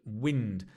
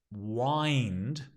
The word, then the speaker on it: wind: the first one wind notice the pronunciation wind because there's another word which is wind which is to wind something but wind uh is right the wind from the